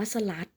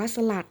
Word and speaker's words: สลัด: เช่น กัน นะ คะ ไม่ อ่าน ว่า สะ ลัด แต่ อ่าน ว่า สลัด นะ คะ เพราะ ว่า สอ เสือ เป็น อักษร สูง หล่อ ลิง เป็น อักษร ต่ำ เดียว จะ ต้อง อ่าน แบบ หอ นำ นั่น เอง ค่ะ ฮะ อ่ะ